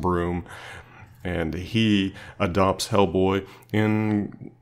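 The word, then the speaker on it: Bruttenholm: the Allies professor broom his original name looks like brewed to know more something and it's pronounced and broom and he adopts Hellboy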